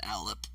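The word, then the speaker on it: Allip: is that again what is this again uh it's spelled a-l-l-i-p it's an alep it's not friendly alex are basically the spectral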